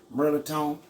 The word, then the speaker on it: mirliton: This is basically what it's called, but at home we call it Mirliton. But it ain't even spelled that way. It's pronounced Mirliton.